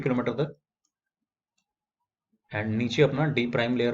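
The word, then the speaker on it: D″: डी double dash नहीं बल्कि डी prime layer बोलते हैं इसको, ठीक है ना। बहुत सारे लोग इसे गलत प्रोनाउंस करते हैं, इट्स नॉट डी double dash but इट्स डी prime layer.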